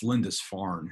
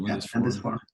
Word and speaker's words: Lindisfarne: Aidan and then the island of, it's Lindisfarne. Is that how you say it? Lindisfarne.